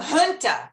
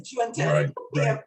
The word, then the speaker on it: junta: And I actually grew up with the term junta, not junta. But in North America, everyone says junta.